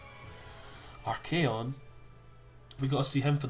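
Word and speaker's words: Archaon: don't get to see our code RK org I always call our code because that's what code what I was growing up before I actually found out how to pronounce his name RK on we go see him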